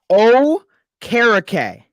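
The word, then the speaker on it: Okereke: here's how it's pronounced here's how it's pronounced it's pronounced o karake okay I've heard okay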